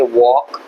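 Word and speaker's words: walk: आप सारे वर्ड्स में एल साइलेंट होता है। इसको बोलेंगे शुड, इसको बोलेंगे वॉक, टॉक, हाफ, काम।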